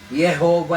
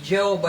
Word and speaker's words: Jehova: Yung Jehova hindi Jehova yon. Amerikano yun eh.